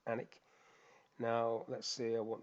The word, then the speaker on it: Alnwick: So location, so I've got Alnwick there, even though it looks like it's Alnwick, it's pronounced Alnwick.